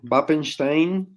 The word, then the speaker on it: Wappenstein: your surname, because Wappenstein or Wappenstein, depending on where you where you come from, is not a Spanish name. So where else have you journeyed from? What is your heritage? Well, Wappenstein, well pronounced, is it's